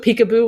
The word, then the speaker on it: PCAOB: And so I didn't actually know Peekaboo was the way people pronounce that acronym.